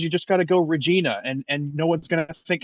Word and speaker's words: Regina: Anyway, I'll just say it's pronounced Regina, right?